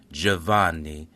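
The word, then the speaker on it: Giovanni: In Italian, you would pronounce this Javanni.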